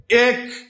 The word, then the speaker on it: এক: প্রিয় ভাই বোন আমার প্রথমে বললাম এক এটা উচ্চারণ হবে এক কিন্তু এক ক এটার উচ্চারণ হবে একক একক একক কি উচ্চারণ হবে একক আচ্ছা তাহলে এইযে এ ক এ উচ্চারণ করলাম এটার উচ্চারণটা হচ্ছে বিবৃত এ ক এ ক এ উচ্চারণ করলাম এটার উচ্চারণ হচ্ছে সংবৃত তাহলে ভাইয়া আমাদের এই